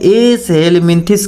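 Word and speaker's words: Aschelminthes: एस हेलिमिंथिस कहते हैं। क्या कहते हैं? एस हेल्मिमिथिस कहते हैं। तो इसका हम लोग उच्चारण कैसे करेंगे? एस हेलमिंथिस कैसे करेंगे?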